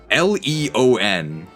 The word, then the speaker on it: Leon: L E O N. How do you say that? I think I said it right. That's Leon. Yeah, it's Leon. It's just not possible to see everything